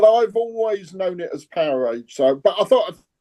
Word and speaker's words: Powerage: but I always said powerage. There's no space though. Yeah. So it's like wattage or voltage.